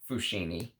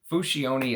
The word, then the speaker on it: Fusciuni: Now that I know how to properly pronounce it, it is not Fusciuni. It is Meo Fusciuni, okay? Fusciuni is how you pronounce it.